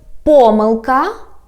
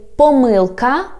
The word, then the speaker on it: помилка: For example, the word помилка, or you can say помилка, means a mistake. Так, a word has 2 stresses. They are all correct, so we can pronounce this word in 2 ways.